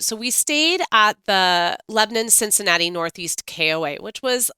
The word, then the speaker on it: Lebanon: called Lebanon and it's spelled like Lebanon but it's Lebanon and if this is